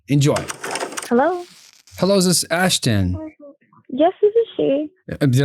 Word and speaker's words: Ashtan: Is this Ashton? Yes, this is she. Did I say it right? Yes. Ashton. Ashton. I have a a son. Ashton is spelled A S H T T O N.